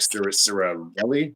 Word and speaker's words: Sirianni: Because I remember watching the Nick Sirianni, that's how you pronounce his name, the coach, Their coach Nick Sirianni.